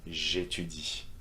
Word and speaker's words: j'étudie: Same will go for j'aime, j'étudie, for these two verbs that start with vowels, okay, A and E. J'aime, j'étudie.